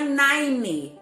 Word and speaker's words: nine: Então prestem atenção que não é nine a pronúncia. Nine. A língua termina lá no céu da boca.